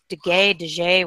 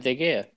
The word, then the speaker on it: De Gea: De Gea, whatever you want to be. Whatevs. De Gea.